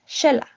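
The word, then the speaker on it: Xela: The letter X is pronounced with a sh sound which actually sounds can actually connects to Mayan culture.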